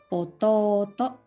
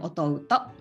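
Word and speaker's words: おとうと: We write u, but pronunciation after to, the consonant to, like o column. The pronunciation will be oto-oto, ototo instead of otouto.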